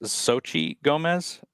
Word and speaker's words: Xochitl Gomez: I believe her name is pronounced Xochitl Gomez.